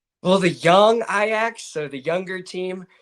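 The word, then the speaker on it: Jong: Well, the young Ajax, so the younger team young, it's it's like kind of in between that ya type of sound.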